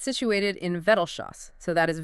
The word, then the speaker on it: Vettelschoß: And it's situated in Vetelshas. So, that is Vetelshas.